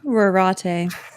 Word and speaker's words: Rorate: Is it Rorate? Rorate.